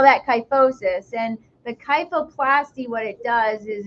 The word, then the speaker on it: kyphoplasty: work with spines, but is it kyphoplasty? Is that how you say it? Kyphoplasty, yes.